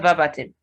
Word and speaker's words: verbatim: So it's not verbatim. The second syllable is stressed in this word. You say verbatim.